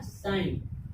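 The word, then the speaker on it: sign: ठीक, इसमें भी जी के बाद एन आया, तो जी के बाद जब एन आया तो जी साइलेंट हो गया अपना।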